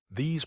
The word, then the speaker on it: these: It rhymes with cheese, please, trees.